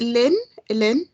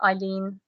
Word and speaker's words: Eileen: And I think is it Lynn that just spoke? Did I say that wrong? Correct me. It's pronounced Eileen. It's Eileen. Wrongly spelt, and it's actually